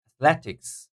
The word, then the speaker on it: athletics: be the first secondary Athletics Athletics second syllable Athletics and then we